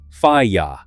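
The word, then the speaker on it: FIYTA: The brand is FAA, pronounced FYA, founded in Shenzhen in 1987.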